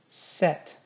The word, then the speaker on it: sept: Set. Do not say the P. Set.